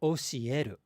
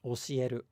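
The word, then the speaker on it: 教える: So, again, if we talk about the word to teach, osieru, osieru, osieru, it's not osieru. It's not osieru. It's just osieru, osieru.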